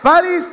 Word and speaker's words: Paris: tsunam yania Miami y y Paris tiene el acento en la es palabra grave pero no terento París si lleva asento París como chingados no en la i el país la ciudad s sin acento sin acento Paris Okay y